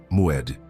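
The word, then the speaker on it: מועד: Pronuncia comigo em voz baixa: Moed.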